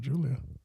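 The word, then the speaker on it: Giulia: Gulia. I've heard them pronounce it Julia. Oh, I've heard it pronounced so many ways.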